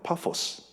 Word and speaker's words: 파포스: 그런데 이제 발음을 아 제대로 하면 파포스 이렇게 되구요 또 여러 바이퍼스 이렇게 되는데 한글 성경이 바보 로 번역했습니다 예 그래서 바보의 사는